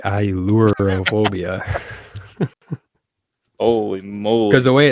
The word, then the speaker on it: Ailurophobia: Yeah, I had to write down like EYE-LURE just so I could pronounce it right. Ailurophobia.